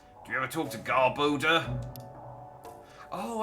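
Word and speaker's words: Garbodor: you ever talk to garboda oh I'm getting garbage and odor that's why it's pronounced like that I'm such an idiot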